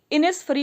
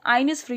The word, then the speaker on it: Innisfree: Secondly इनिसफ्री पढ़ा जाता है, आइनिसफ्री नहीं पढ़ा जाता है।